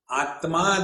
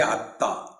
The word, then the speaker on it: Atma: Atma they can't say, they say Atta.